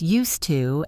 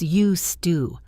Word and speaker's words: used to: We pronounce used to as used to. We drop the D sound and the two becomes a quick two.